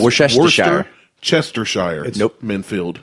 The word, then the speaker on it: Worcestershire: It's Worcestershire. Chestershire. Nope. Minfield. It's Worcestershire. Lean parents. Lun parents. Y'all ain't crazy. I can't pronounce shit.